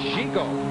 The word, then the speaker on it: Zhugo: And he informs me, Zhugo, is that how you pronounce his nickname? Zhugo? That's Zhugo.